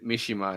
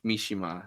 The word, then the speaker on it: Mishima: By the way, I pronounced it wrong, and I said Mishima instead of Mishima. And thank you for pointing that out, chat. I feel great about myself. Yeah, enunciation goes on the third syllable.